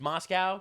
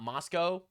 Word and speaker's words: Moscow: It's pronounced Moscow, not Moscow.